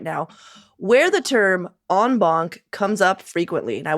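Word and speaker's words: en banc: than is healthy right now, where the term onbunk comes up frequently. And I wanted to give you all a heads up on the pronunciation of onbon.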